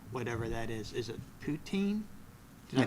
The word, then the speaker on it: poutine: looking forward to whatever that is is it poutin did I pronounce is that right poutine yeah um Cory is very much looking forward